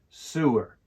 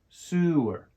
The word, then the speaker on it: sewer: pipe for carrying waste can you say it sewer sewer sewer A sower is someone that stitches or men's